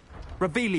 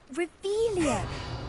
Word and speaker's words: Revelio: Revelius. You're saying it wrong. Ugh, Revelio. Much better.